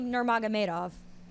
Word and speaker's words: Nurmagomedov: So, your boy, Khabib, how do you pronounce his last name? Khabib Nurmagomedov.